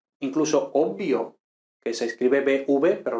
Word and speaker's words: obvio: normalmente se pronuncia con 2m es inmortal incluso obvio que se escribe bv pero lógicamente se pronuncia con dos